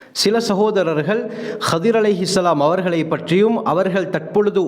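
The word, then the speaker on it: خضر: என்பது இவர்களுடைய சிறப்பு பெயர் நிறைய பேர் ஹிதிர் ஹிதிர் என்று கூறுவார்கள் சரியான உச்சரிப்பு கதிர் என்பதுதான் ஹாக்கு பத்ஹா வந்து லாதுக்கு கஸ்ரா வரவேண்டும் கதிர் இதைத்தான் ஹதீஸிலே ரசூலுல்லாஹி ஸல்லல்லாஹு அலைஹி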